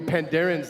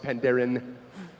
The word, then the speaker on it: Pandaren: There will be Pandarians there. I just pronounced plural with an S. That's so bad. I'm going to get rolled when I get back to the office. Pandaren.